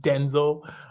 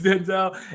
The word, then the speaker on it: Denzel: I think it's actually pronounced Denzel. Yeah, it's Denzel and Leonardo DiCaprio.